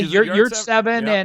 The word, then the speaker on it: Yurtseven: Is that how you pronounce his name? Yeah, Yurtseven and Mike Watkins.